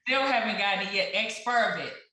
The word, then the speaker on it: Exspiravit: You shared the correct enunciation and pronunciation. Right. Still haven't gotten it yet. Exspiravit. Exspiravit.